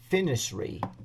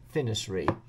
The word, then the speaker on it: FNIRSI: play around with it finy I think is how that's pronounced on there f n i r s i finy I think but anyway